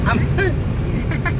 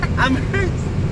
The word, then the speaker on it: Amherst: Ang Amherst pag pronounce mo kay mura ka nang nangatsing. Amherst. Amherst.